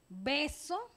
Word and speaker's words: beso: Si nosotros pronunciamos beso, es bilabial, beso, ¿verdad? Pero si decimos vaso, es más rosante. Beso. Si digo beso, lo digo beso, pero si digo vaso, queda como si fuera a pronunciar una V.